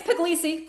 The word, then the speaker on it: Puglisi: our guest is Puglisi. Did I pronounce that right? Your last name right? I meant to ask you that backstage and I, you know Yeah, it's Puglisi. Close enough.